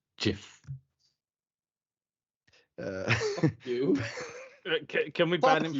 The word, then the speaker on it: GIF: It's pronounced Jiff. You. Can we ban him from this now? We need him. No, it is GIF.